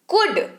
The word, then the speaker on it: could: कुड, COULD, कुड इसको पढ़ते हैं, पढ़ते वक्त जो है वो L है जो है स्पेलिंग में लिखा हुआ वो साइलेंट रहता है। COULD इसकी स्पेलिंग तो होती है जरूर, पर इसको पढ़ते कुड है।